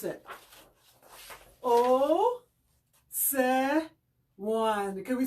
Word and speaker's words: Osewan: fundraising project called Turn the Water On for Osewan. Osewan is a place in southern Kenya. So first of all, I'm going to also teach you how to pronounce it. This is how it looks. Osewan.